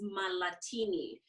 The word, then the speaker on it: Mahlatini: The last name is Mahlatini, just like the drink martini, but you put Mahlatini.